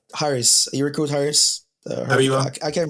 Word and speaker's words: Habiba: Habiba? I can't pronounce that first. Yes, Habiba.